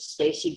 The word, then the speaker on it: Stac3y: Once again, my name is Stacy. That's Stac3y. The 3 is silent.